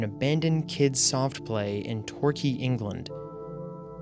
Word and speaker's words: Torquay: These images are of an abandoned kids' soft play in Torquay, England. I looked up how to say this word, and it said Torquay, so I'm going to pronounce it Torquay.